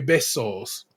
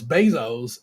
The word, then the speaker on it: besos: made coconut and raspberry besos, which they pronounce bezos, and it made me just say, y'all really don't be trying.